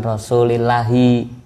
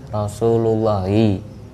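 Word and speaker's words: رسولُ الله: Kang Epi bacanya bukan Rasulillahi tapi Rasulullahi. Karena lafadz itu menjadi fa'ilnya lafadz kola dan fa'il termasuk isim-isim yang terbaca rofa.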